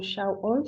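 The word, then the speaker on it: שאול: de Saúl hermanos eh viene de la palabra hebrea que se pronuncia como shol significa deseado o implorado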